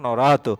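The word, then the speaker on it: নরাৎ: নর শব্দের পঞ্চমীর এক বচন হচ্ছে কি, হ্যাঁ এটা হচ্ছে নরাত, এটা নরাত, উচ্চারণটা নরাত।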